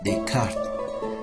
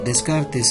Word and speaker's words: Descartes: de descartes o bueno en francés se menciona se pronuncia de carne pero descartes es lo más familiar sabemos que descartes es